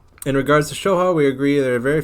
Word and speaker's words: Shoha: You're basically saying it right, it's just Soha.